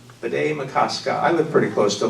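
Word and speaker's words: Bde Maka Ska: It's a Dakota word, B'day Makaska. B'day Makaska.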